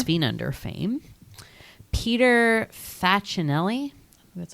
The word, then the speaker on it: Peter Facinelli: Peter Facinelli.